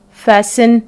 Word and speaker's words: fasten: and then we have fast plus e n at the end so letter t is silent it will be fasten which means to close